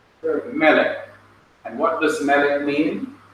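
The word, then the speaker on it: מֶלֶךְ: That's right, Melech. The accent is on the first syllable. The arrowhead here represents the accent. Melech.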